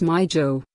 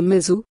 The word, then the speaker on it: Mizo: Zomi would then become Jomi, to mean the people or descendants of Zo, while Mizo should be pronounced as Mizo, but not as Zu, Zumi or Mizu.